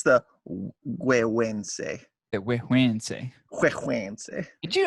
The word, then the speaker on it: Güegüense: Since you've definitely worked on the pronunciation. Oh yes, it is the Güegüense by Foundation. Actually, hold on. Let me make sure I'm saying it right. Güegüense.